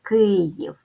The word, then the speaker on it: Київ: склади Київ ставим наголос Київ позначаємо приголосні звуки перший звук к твердий Ми пам'ятаємо що буква ї завжди позначає два звуки Тому перед голосним звуком і ставимо м'який звук й і останній в приголосний